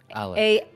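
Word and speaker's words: Aluc: Alec. A-L-U-C is how it's spelled.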